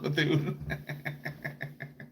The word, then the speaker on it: Bethune: Betuna. The tuna? What? Bethune? Like bassoon? It's pronounced Bethune.